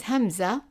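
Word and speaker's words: همزة: The name of it is hamza, and it is like a glottal stop, like an sound.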